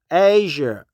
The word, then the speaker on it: Azure: the exact pronation I I think it's not a z sound but more like a j yeah Azure asure Azure asure Azure Asia